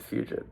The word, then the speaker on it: Fugit: I'm going to pronounce it Fugit, but it's spelled F U G I T.